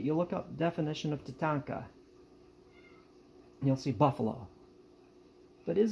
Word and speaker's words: tatanka: say uh look at definition titanka now i'm pronouncing that wrong i am and i realize that but you look up definition of tatanka you'll see buffalo but